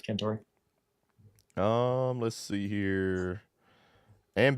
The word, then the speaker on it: Cantore: Cantor or Cantore, I can't say his name. However you say it. Yeah, I think it's said Cantore.